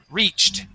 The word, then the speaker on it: reached: said reached okay that is a t sound so the word is reached reach okay okay with the T sound pronounce that T at the end reached reached good nice